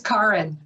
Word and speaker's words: Kaaren: I should say my name is Kaaren. It's Karen with an attitude. It does have an extra A.